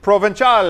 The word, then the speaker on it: Provenzale: And here to tell us more about this and some other items, Mike Provental.